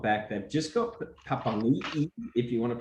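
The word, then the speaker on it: Papaliʻi: They've just got Papanui, if you want to pronounce it correctly nowadays, back from arresting.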